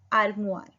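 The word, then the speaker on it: armoire: N Elmira, Elmira को बोलते हैं आर्मुआर, युन आर्मुआर, आर म ओ आई का साउंड हुआ र, आर्मुआर, युन आर्मुआर।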